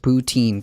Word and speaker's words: poutine: wait who does this this isn't a thing pronounced poutine got it it's it's a beautiful thing it's